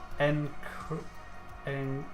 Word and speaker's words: Enchiridium: Enchiridium. There we go. Once you've learnt it, it's fine. The H is silent.